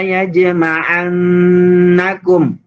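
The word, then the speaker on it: يجمعنكم: La yajma'annakum. Lihat, perhatikan. Ada huruf jim yang berharokat mati. La yajma'annakum. La yaj. Nah, itu dibaca qalqalah.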